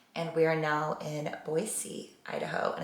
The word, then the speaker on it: Boise: we are now in Boise Idaho and it's pronounced Boise with a soft s not with a z sound never knew that growing